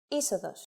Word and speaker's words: είσοδος: If a two-vowel combination must be pronounced as a set that is accented, then the accent mark will always go to the second letter. For example, είσοδος.